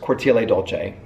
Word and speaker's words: Cortile Dolce: parfume so where should we go first first Corti Dolce that is how you pronounce it you're pronouncing a at the end